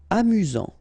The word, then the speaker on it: amusant: ok effrayant je l'ai Amusant. Final not pronounced.